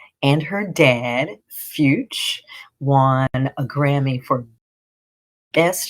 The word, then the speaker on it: Fyütch: Dad and I should say dad fuch. Um, which is spelled f y u with the umlout over the u, that's the two dots over the u, tch. So fy u, tch.